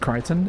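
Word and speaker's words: Crichton: I believe it's pronounced Kryton.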